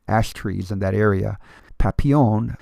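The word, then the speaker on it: Papillion: Papion, which would be the proper French uh pronunciation for the word means butterfly in French.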